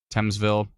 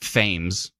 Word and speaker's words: Thamesville: in Bothwell uh uh should remember how to pronounce this thamesville not Thames thamesville uh Ridgetown more path Port